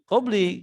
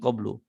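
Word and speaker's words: قبلُ: ditanyakan sama sama peserta, kenapa kok min qablu? Harusnya kan qabli, ya kan? Karena ada minnya kan? Nah, saya bilang jadi itu dia sebetulnya diidofahkan, tapi idofahnya dibuang, yuqaddar. Maka dari itu bacanya min qablu, ya.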